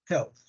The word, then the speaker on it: health: So the word is health. Health. Yeah. So the word health is pronounced with an interdental sound at the end. Yeah. Yeah, at the end. Has a final th sound.